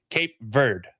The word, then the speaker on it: Cape Verde: But American English, which is what I know, is Cape Verde. That is literally how it's pronounced.